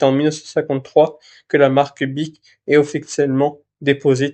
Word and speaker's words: Bic: 1953 que la marque Bic est officiellement déposée, tirée du nom de famille donc de Marcel Beach, mais sans le H pour éviter la mauvaise prononciation en anglais.